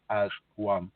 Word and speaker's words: Azwan: But when I didn't want to call it as one like this, so I called it with one word, AZWAN, but it sounds like as one.